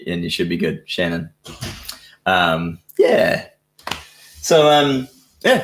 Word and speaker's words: Shanhun: knows um george my my last name's just pronounced shannon um just pretend there's no h in the middle and you and you should be good shannon um yeah so um